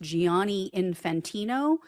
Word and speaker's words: Gianni Infantino: The FIFA president, his name, I believe, is pronounced Gianni Infantino.